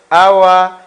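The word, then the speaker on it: hour: take a Tico and reason being letter H is kept silent we don't pronounce letter H there are four what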